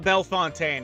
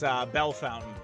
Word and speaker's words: Bellefontaine: So we found Brew Fountain because it's not Bellefontaine, it's Bell Fountain, Ohio. That's how you say it.